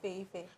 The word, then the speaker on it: Feyi Fay: With the help of a magical app, Feyi Fay, did I pronounce that well? Feyi Fay.